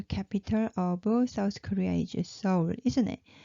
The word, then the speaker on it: Seoul: But a lot of Westerners, they pronounce it Seoul. It's like S for sun. But in Korea, no Korean people pronounce Seoul because this is Seoul. Seoul, not double. So it should be Seoul.